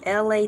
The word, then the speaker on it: Elay: Y'all could have been anywhere else in the world, but you're up here with Elay TV, pronounced like LA, like the city.